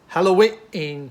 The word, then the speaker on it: Hallowe'en: christie hercule project mystery halloween party and you'll notice i pronounced the apostrophe in halloween party as a glottal stop because why wouldn't you